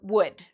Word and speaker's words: would: So afterwards, you don't need to worry about this L. It's silent. So we say would, should, could. Okay?